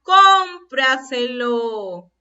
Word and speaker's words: cómpraselo: ¿Dónde estará la mayor fuerza de voz? En la sílaba, a ver, escuchemos. Cómpraselo. En la sílaba con. Y si es la sílaba con, ¿qué ubicación tiene? A ver, aquí está la última, penúltima, antepenúltima, antes de la antepenúltima. Es una palabra sobresdrújula.